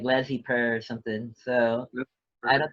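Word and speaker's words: laissez-faire: How do you say it? Is laissez faire? Laissez faire? Yeah, because it's French.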